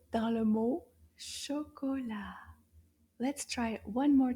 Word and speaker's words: chocolat: This is called chocolat. Chocolat. Let's see how many syllables.